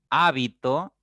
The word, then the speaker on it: hábito: Es decir, el acento es distintivo porque permite distinguir entre una y otra palabra. Hábito, habito, habitó. Por eso es distintivo el acento, ¿ya?